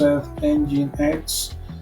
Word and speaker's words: Nginx: Description: Nginx, pronounced Nginx, is an HTTP and reserved proxy server, a mail proxy server, and a generic TCP/UDP proxy server.